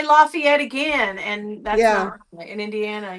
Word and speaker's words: Lafayette: I don't know and I say it wrong because I was saying laay yet but it's apparently laugh laughy at I don't know really I said play it I just the Annunciation is Lafayette yeah and she said